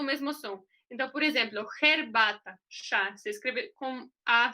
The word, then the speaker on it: herbata: É como se fosse um R.